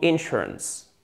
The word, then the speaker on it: insurance: Donc, une assurance santé, medical insurance. Insurance, insurance. Oh God. Accent tonique, c'est la deuxième syllabe et pas la première.